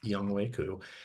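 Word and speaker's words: Younghoe: have young way coup I know it's fun to say the alternate pronunciation for his name but it is y wayu he has uh not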